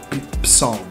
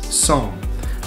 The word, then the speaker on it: Psalm: You don't pronounce the P, so keep that in your mind. Okay, so Psalm, and it's not Psalm, it's Psalm.